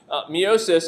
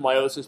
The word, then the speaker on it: meiosis: When we start talking about meiosis, we have to, meiosis, and again, meiosis is really pronounced meiosis, but I overpronounce it for the purposes of this class.